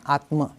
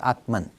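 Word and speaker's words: आत्मा: The Sanskrit pronunciation is Brahma, but in English we make it Brahman, and Atma becomes Atman.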